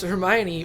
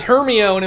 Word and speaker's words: Hermione: Also learned how to pronounce Hermione. Well, the movies. She was Hermione in my brain until the movies came out.